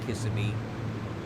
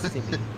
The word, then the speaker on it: Kissimmee: To me, it looked like Kissimmee, but then somebody said no, it's Kissimmee.